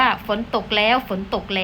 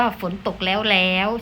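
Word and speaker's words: ฝนตกแล้ว ๆ: มี ไม้ ยมก แล้ว ก็ จะ อ่าน ว่า ฝน ตก แล้ว ฝน ตก แล้ว นะ คะ เรา จะ ไม่ อ่าน ว่า ฝน ตก แล้ว แล้ว ใช่ ไหม คะ ต่อ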